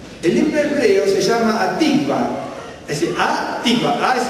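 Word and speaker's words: Hatikvah: El himno hebreo se llama Atikva. Es decir, Atikva, A es el artículo definido, ¿no es cierto? Atikva, es Atikva.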